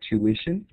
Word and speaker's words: tuition: And here we have the word tuition. Many times the t io makes like a sha sound like that. So in the word tuition, it's going to be like tuish.